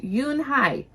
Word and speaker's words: Unhei: It's pronounced Yunhai.